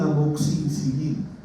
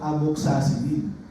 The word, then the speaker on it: amoxicilina: Ojo, un amoxicilina que a veces ustedes lo llaman amoxacilina.